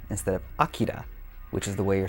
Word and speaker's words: Akira: busy man what's the matter canada everything is pronounced wrong that first video release dub is the reason most people say akira instead of akira which is the way you're supposed to say